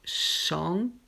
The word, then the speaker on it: chante: Ici, pareil, donc chante. On ne prononce pas le dernier T ou EN.